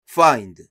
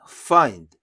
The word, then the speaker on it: find: 하나하나 설명이 되어 있는데요 그 중에서 find F 발음 한국에는 없는 발음이에요 ㅎ과 피읖 중간발음 find 먼저 히읗을 소리 내시고 피흡을 그 다음 소리를내는 거예요 fine find find 그리고 카이 자동차란 뜻인데